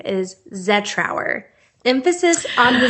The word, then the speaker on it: Zetrouer: Now, a lot of people around here do call me Zetrouer with the emphasis on our. And I will accept that. That's close enough. Okay. But it's technically pronounced Zetrouer.